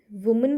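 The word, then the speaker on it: women: वुमेन का पता है, यहाँ पे ए की जगह ई लगता है और उसको हम प्रोनाउंस कैसे करते हैं, विमेन, ओके, ऑलवेज विमेन।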